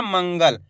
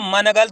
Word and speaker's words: मंगल: इस तरीके से तो मा के ऊपर अनुस्वार की मात्रा लगा देंगे मंग ग ल तो मिलके बन जाएगा अपने मंगल दोस्तों मनगण थोड़ी बोला मैंने क्या बोला मंगल तो